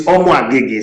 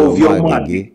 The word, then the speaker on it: Amoagege: Is it Amoagege? Ovie. The word Ovie is king. No, I'm not even concerned about the Ovie. I'm concerned about whether it is Amoagege, like Agege boy, or it's pronounced differently. It's Amoagege, same.